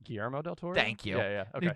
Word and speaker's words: Guillermo del Toro: Gamicio del Toro. Okay. Say his name, actually his name. Guillermo del Toro?